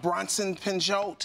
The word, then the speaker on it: Bronson Pinchot: Bronson Pinchot.